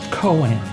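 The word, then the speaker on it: koan: cornerstones of Zen Buddhism KO a n is pronounced Coen humans like to understand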